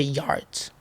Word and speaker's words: Jart: It's not Jart or is it Jart? It's Jart. Oh, it is. Okay. Jart because it's uh Jart is a Spanish brand and in Spain they say Yart, but like Port in Portuguart.